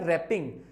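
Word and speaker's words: wrap: रैपिंग procedure क्या है, देखो एक होता है रैपिंग या वैराप, इसमें डब्ल्यू जो है वो साइलेंट है।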